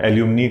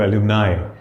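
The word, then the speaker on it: alumni: पहले बताया था ना एल्यूमिनी को एलुमिनाई ठीक है सिलेबस का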